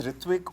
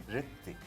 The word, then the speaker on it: Ritwik: लगा है the word it's ऋत्विक only but just because the alphabet in Bangla does not have a डब्लू इनके so there is no pronunciation प्रोन्सिएशन right how they want to be pronouncing हां रितिक रितिक इतने